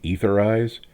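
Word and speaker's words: Aetherize: I know it's supposed to be etherize, but if they wanted it to be pronounced etheriz, they shouldn't have put a capital A at the beginning.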